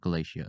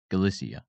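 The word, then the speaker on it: Galicia: No, wait, not Galatia. Uh, Galissia.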